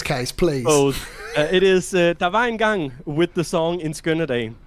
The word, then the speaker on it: Var Engang: It is Var Engang with the song In Skønne.